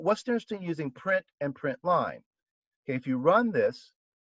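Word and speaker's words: println: line method here the print line function there's also we read that it's spelled p r i n tln and people read it as print line there's also a print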